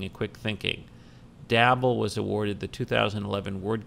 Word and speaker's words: Dabble: It's obviously marketing to the people who play Scrabble, because the name is Dabble, which rhymes with Scrabble.